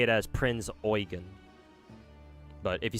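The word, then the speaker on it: Prinz Eugen: Yeah, apparently the the proper pronunciation of that of Prince's name is Prince Oyen. The EU is supposed to be pronounced oi. So you sound you make you you say it as Prince Oen, but if you say it fast, obviously it comes out as Prince.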